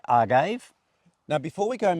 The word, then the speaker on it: agave: is it you know the E possibly should be pronounced uh Spanish you would say Agave wouldn't you yeah yes you probably would so let us assume it's agave and during this whole uh